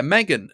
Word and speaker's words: M3GAN: but Megan um it's Megan it's Megan it's Megan I know on Wikipedia it says m3an is how it's pronounced but as everybody likes